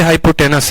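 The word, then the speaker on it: hypotenuse: तो हाइपोटेन्यूज होता है लेकिन पढ़ते हाइपोटेनस है, पढ़ते हाइपोटेनस है, ई साइलेंट रहता है।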